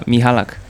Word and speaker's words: Michalak: got to hear it uh mihalak mihalak mihalak that's that's how you say it mihalak so the first name is in Polish and in the the last one is mihalak mialik does does mialik